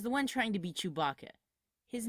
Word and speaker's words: Chewbaccat: had kept the name Chewing Gum, because everyone mispronounced it, and it drove me crazy. Even the director started calling him Chewbacat. But it's not Chewbacat! It's Chewbacca!